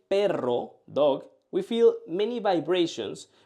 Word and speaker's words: perro: So, perro means dog, but pero means but. When we say perro, dog, we feel many vibrations. But when we say pero, we just feel one touch. When we say perro, dog, we feel many vibrations.